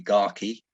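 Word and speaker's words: Garheugh: So this is at the rocks of Garhew, or as it's pronounced locally, Garkey, on the Macas coast.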